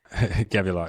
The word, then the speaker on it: Gevulot: And I imagine that led you to the path that you're on now, where you're building, help me pronounce it, Gevulot, right? Gevulot, yeah.